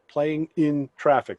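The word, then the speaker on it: Playing N Traffic: look up playing playing ing n as the letter n traffic playing in traffic that's how they say it um i think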